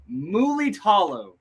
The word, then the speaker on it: Mulitalo: Mulitalo. Mulitalo. Yeah, man, I've been practicing shit all day, dude. You put an extra syllable in there, is what the issue was.